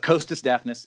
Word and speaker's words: Costas Dafnis: But Costas Dafnis is a perfectly good substitute.